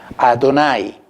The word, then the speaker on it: Adonai: Y en rojo hemos puesto las vocales de este título de Dios que se conservó entre los judíos como la manera de pronunciar. Adonai, que incluye el término con 3 vocales, E, O y A.